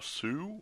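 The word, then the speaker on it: Szew: Nicholas Cho, Neil Ellman, David Massey, Justin Smith, Fernando Sue, I think is the right pronunciation, S-Z-E-W, Joss Van Hout, H-O-U-D-T, and Arnie Tapersky.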